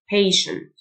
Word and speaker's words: patient: office worker صبور patient TIE تنطق شه patient أجر أو يدفع pay